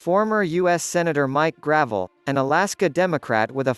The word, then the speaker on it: Gravel: gruh-VELL, pronounced gruh-VELL, was drawn to politics at a young age